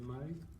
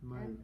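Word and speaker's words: Maille: I mean, the one you can buy here is called Mai, M-A-I-L-L-E. That one is very popular in France, Oh, nice. Okay. and you can find How do you it. spell it again? M-A-I-L-L-E. Mai.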